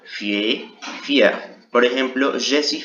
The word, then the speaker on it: fier: Aquí si pronunciamos la ER al final, fier, fier.